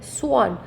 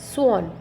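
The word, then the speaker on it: swan: स्वान, word सोन है, ए वाला word है बट वो इसका स्वर ओ का आता है, स्वान।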